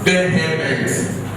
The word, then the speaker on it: vehement: V-E-H-E-M-E-N-T. It's not vehement. Rather, vehement.